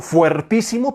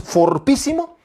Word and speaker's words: fortísimo: esto último es fortísimo a mí me gusta decir fuertísimo pero un día me corrigieron me dijeron no seas macarrón no se dice fuertísimo es fortísimo así que esto último es